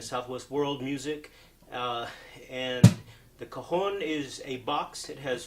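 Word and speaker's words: cajón: I use it my performances and in recordings it's spelled CA Jo n Cajon it's the Spanish word meaning box so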